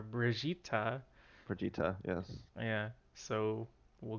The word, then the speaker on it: Brigitte: It's spelled Brigitte, but and everyone always assumed it was Bridget or Brigitte or something, but the way it was pronounced in the videos are Brigitta.